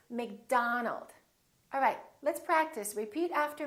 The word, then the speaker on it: McDonald: are going to be spelled with the letter O make sure that you don't say oh it's not Robert it's Robert it's not McDonald it's McDonald alright let's practice repeat